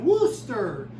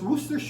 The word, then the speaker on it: Worcester: It's a Boston suburb and that's how they pronounce it. Worooster. So it's Worooster sauce.